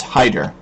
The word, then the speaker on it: Hydur: otter one but no this is Haider it kind of rhymes with otter what do I know